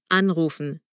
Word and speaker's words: anrufen: Und die Betonung ist vorne. Anrufen.